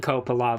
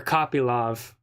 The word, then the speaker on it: Kopylov: Roman Kopylov, of course. Or Kopylov, I believe it's pronounced.